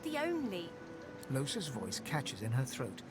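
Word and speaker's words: Lohse: Once again, I do not like that pronunciation, so I will call her Lahois. This is an incorrect pronunciation, and I am aware of that. But I like saying Lahois over Losa.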